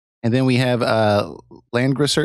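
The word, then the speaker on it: Langrisser: then we have a land grosser am I saying that right yeah that's correct okay because I always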